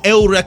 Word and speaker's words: Eureka: cold that anime is Eureka 7 when I watch Eureka 7 or Ela 7 if you want to you know use the pronunciation that they use in Japanese there's something about that